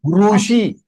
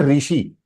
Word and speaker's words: ऋषि: Rushi. It is not rishi. When we say rishi, वो री आ गया, वो हिंदी में आ गया, ऋषि Kapoor. But if you want to write, pronounce his name in Sanskritam, you will say Rushi Kapoor. So it is small dirgha Rushi.